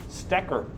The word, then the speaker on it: Stecker: is professor stecker that's how you say my name stecker if you want to say it if you look on